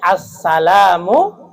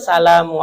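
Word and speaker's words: السَّلَامُ: Nah, ini assalamu. Jadi jangan salamu alaika. Ada alif lamnya.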